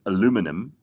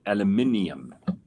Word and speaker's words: aluminium: So, the Americans call it aluminum, which I don't understand. No. And we call it aluminium.